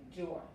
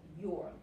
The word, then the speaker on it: your: Esta palabra aquí se pronuncia como la palabra or en inglés, que significa o en